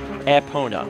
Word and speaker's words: Epona: closest thing with we have to an official pronunciation is aona why is it not dead there you go